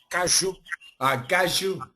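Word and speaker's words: caju: cashews cashew no no in Brazil we we call it gaju gaju more questions comments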